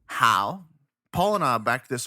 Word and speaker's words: Howe: How do you pronounce his name? How do you say his name? Cecil Howe. How? Howe.